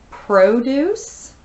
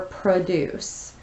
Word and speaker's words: produce: It's spelled the same way. It can be pronounced produce or produce. Produce is a noun, meaning crop or vegetable or fruit.